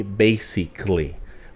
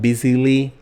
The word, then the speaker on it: basically: not the right one because the pronunciation will be basically basically right it's not busily basically and when you are